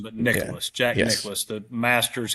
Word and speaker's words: Nicklaus: I always get the name wrong. Jack Nicklaus, the golfer, isn't that right? mhm. Not Yes. Nicholson, but Yeah. Nicholas.